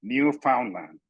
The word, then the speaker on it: Newfoundland: It is written Newfoundland, but it is pronounced Newfoundland. We can tell that because we are professional teachers.